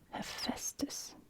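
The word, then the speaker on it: Ἥφαιστος: black Smith a Festus now here we're going to start with the a because this is actually a capital AA it's going to be aspirated so you can put a an aspiration Mark there he he there we go that's our he sound because that's our e with an aspiration he you can also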